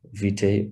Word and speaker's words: vitae: holding this webinar today so the cv curriculum vitae or vita depending on how you want to pronounce it um what is a cv a